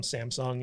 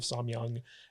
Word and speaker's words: Samyang: kind of yeah and they keep getting his name wrong they keep calling him Samsung instead of samyang and for some reason